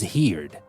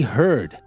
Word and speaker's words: heard: just added Ed so I thought the best way to pronounce here with Ed is heared but there's nothing like that we say here in present but in the past it's irregular we say heard and you might say